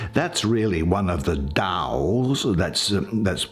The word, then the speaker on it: Tao: That's really one of the Taos, that's spelt T-A-O, but it's pronounced Tao.